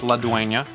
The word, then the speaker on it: La Duena: It's pronounced La Duena.